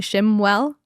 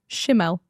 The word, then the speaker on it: Shimwell: Last time I pronounced your last name wrong because we had just met the week before and I called you Emily Shiml.